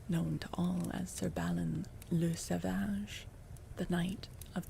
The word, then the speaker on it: Balin: Balin.